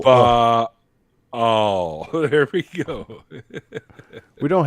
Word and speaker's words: Baal: It is pronounced Baal, by the way. It's not Baal. Yeah. That sounds identical to me, to my English ears. No, The sorry. little glottal. Baal.